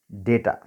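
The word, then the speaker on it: data: Okay, next is डेटा। कुछ लोग उसे डाटा भी कहते हैं, डेटा भी कहते हैं, दोनों ही, कोई दिक्कत नहीं, प्रोनाउंसिएशन का फ़र्क है बस।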